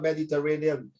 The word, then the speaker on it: Mediterranean: I like the way you pronounce the word Mediterranean. Mediterranean, 5 syllables.